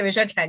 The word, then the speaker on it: Michelle Chan: And today I'm with Michelle Chan. I've pronounced that correctly, surely. Yeah, Michelle Chan, yes.